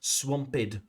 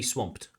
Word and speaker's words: swamped: A couple of pronunciation makes mistakes there too. Swampid. It should be swamped again.